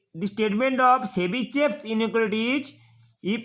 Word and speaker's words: Tchebycheff: But spelling is TCHEBYCHEFF' inequality. But pronunciation is Chebyshev inequality.